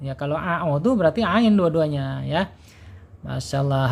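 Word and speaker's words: أعوذ: Makhraj alif dan ain harus dibedakan ya. A dulu baru masuk ke ain. A'udzu gitu ya. Nggak boleh a'udzu. Ya kalau a'udzu berarti ain dua-duanya ya.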